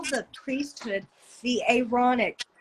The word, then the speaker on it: Aaronic: And they call the priesthood the Aaronic. Aaron, not ironic, which it is, but like I'm pronouncing it like that, the Yeah, Aaronic Aaronic.